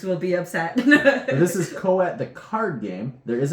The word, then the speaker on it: Coatl: Coatl. Yes. L is silent. Which we didn't know.